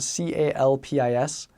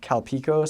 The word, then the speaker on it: Calpis: It's spelled Calpis. So in English, they changed the name to Calpico, so it doesn't sound like Calpis, which can sound bad.